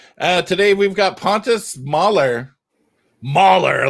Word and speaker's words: Mahler: Mahler, like a bear mauls somebody. Is that how it's pronounced? I pronounced it apparently worse, huh? Yeah, no, I think that's a great way to do it, because if we go into the Mälo, like we say in Sweden, we're not getting anywhere.